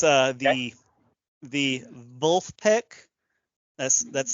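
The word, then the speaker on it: Vulfpeck: all right fair enough it's uh the the vul peek that's that's spelled v is in Victor U LF p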